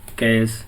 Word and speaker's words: cache: The word cash is pronounced as cash। ठीक है, the word cash is pronounced as cash।